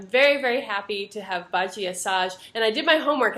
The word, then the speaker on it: Badi Assad: music festival I'm very very happy to have baji assage and I did my homework and I think I'm pronouncing your name right is that correct baji assage perfect thank you I I practiced so that